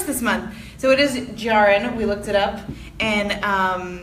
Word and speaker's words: Jahren: we're about to discuss Lab Girl by Hope Jahren (jar-en). We, of course, Racine and I always argue over how to pronounce things and par for the course this month. So it is "jar-en."